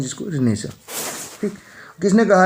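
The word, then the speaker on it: Renaissance: रेनेसांस spelling होती है इसकी, स्पेलिंग पे ध्यान दीजिएगा। कभी कभार जो स्पेलिंग एरर से रिलेटेड क्वेश्चन है उनमें भी पूछा जा सकता है इस टाइप का क्वेश्चन। रेनेसा, इसको रेनेसा बोलते हैं।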